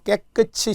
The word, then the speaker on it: 깨끗이: 발음도 잘해야 된다고 했어요. 깨끗이 씻다. 절대 안 돼요. 깨끗이.